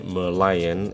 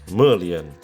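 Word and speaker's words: Merlion: our tour to the mer lion which I pronounced wrong so many times totally forgot it has a head of the lion that's why you will speak it as the Merion and not meran no more rain for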